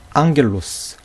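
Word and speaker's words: ἄγγελος: 감마를 사용해 줬다는 거예요 그러니까 그크 끝 앞에 감마가 올 때는 이것을 그라고 발음하면 안 되고 받침으로 발음해 줘야 한다하는 것이죠 그래서 봐요 다시 면 앙겔로스 귀라 크리오 살핀 그스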